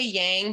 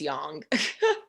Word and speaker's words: yang: my hand it's pronounced young yeah a lot of people say yang but it's it's young okay great we froze